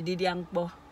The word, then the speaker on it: di dia mkpo: Say didiangpo.